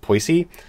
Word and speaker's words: Poissy: I'm going to pronounce it wrong, but I think it's pronounced Poissy.